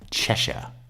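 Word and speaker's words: Cheshire: Chesher, it's pronounced chesher.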